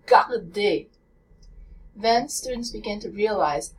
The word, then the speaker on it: regarde: As students listen to the difference between the American R, regarde, which is not the correct pronunciation, or the French R, regarde, then students begin to